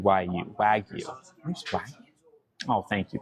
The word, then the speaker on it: Wagyu: Y'all still say the wagu wag. How do you say it? It's w a gu yu. Wag you.